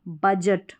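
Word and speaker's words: budget: तो इस तरीके से यहाँ पर इन स्पेलिंग्स में देखें कि तो डी साइलेंट है, डी को पढ़ा नहीं जा रहा है, डी के अगर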